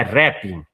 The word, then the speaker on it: Repin: vendo você falar, é rapping. É rap, Rapping, a acentuação é na primeira sílaba.